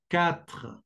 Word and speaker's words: quatre: Quatre, quatre. Atención a la R, es muy gutural.